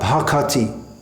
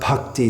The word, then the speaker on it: bhakati: Similarly, Sri Guru Charana Padma Kevala Bhakati Sadma. We shouldn't pronounce it Kevala Bhakti Sadma. It doesn't fit properly if we say Bhakti Sadma, Bhakati Sadma.